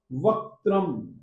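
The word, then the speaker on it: वक्त्रम्: क को हलंत बोलिएगा और त को भी हलंत बोलिएगा, यानी कि मूल व्यंजन के रूप में ही बोलिएगा। वक्त्रम क्व, वक्त्रम क्व, क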